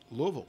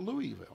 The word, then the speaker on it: Louisville: did blow up in Louisville Louisville Kentucky not Louisville knew three distinct syllables Lou uh Lowell he